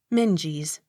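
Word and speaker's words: Menzies: e o d macleod m e n z i e s minges accent on first syllable m e u x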